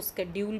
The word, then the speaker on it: schedule: आजकल इसको स्केड्यूल भी पढ़ा जाता है, तो लेकिन हमने ब्रिटिश प्रोनाउंसिएशन में इसको शेड्यूल ही पढ़ा है. इट इज़ नॉट स्केड्यूल in British pronunciation.